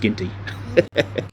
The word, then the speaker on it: Geenty: Geenty and pronounced Geenty.